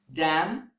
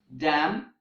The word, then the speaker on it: damn: that end with MN but in these words the letter n is silent for example autumn column damn him so these are the